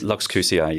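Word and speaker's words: LuxQCI: So one of them is it Lux QCI? That's just like that? Or how do you call it? Lux QCI, yes, that's true.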